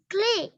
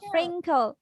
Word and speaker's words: Frinkle: Clay. খেল খেল clay হবে না খেল এটার উচ্চারণটা হবে খেল ফ্রিঙ্কল স্টোরি বাই অ্যান্ড্রিউ ফ্রিঙ্কল বলো Story by Andrew Frinkle.